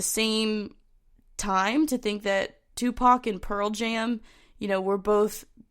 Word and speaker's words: Tupac: important to note that on April 8th, 2017, Tupac, oh my gosh, why did I say it like that? Tupac, and the singer-songwriter of Pearl Jam were entered into the Rock and Roll Hall of Fame.